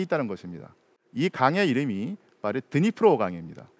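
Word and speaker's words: Дніпро: 것입니다 이강의 이름이 말에 드니프로 방입니다 예전에는 그 러시아어 식 발음으로 드네프르 강 이라고 했었는데 지금은 우크라이나어 르 어 존중한다는 의미에서 드니프로 강 이라고 하죠 어쨌든 간에 우크라이나는 이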